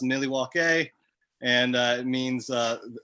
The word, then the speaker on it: Milwaukee: alice cooper and he tells him it's actually pronounced millie walk a and uh it means uh the good land